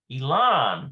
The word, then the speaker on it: אילן: It's got to be a nun speed on there. אילן. Elon. אילן.